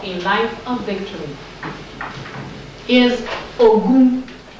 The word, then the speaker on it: Ogun: For social, third social principle for a life of victory is Ogun. Ogun. O, G, G is that like in George, is G or J? That's G. O, G, O, U, N.